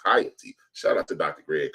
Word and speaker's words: Haiti: uh Western Hemisphere and now it's called hiy or Haiti improperly but the correct pronounce is hiy shout out to Dr